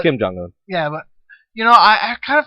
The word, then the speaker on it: Kim Jong-un: It's Kim Jong-un.